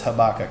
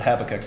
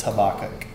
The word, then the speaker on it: Habakkuk: Sorry, I looked that up how to pronounce it. It's Habakkuk. I said Habakkuk my whole life. It's Habakkuk.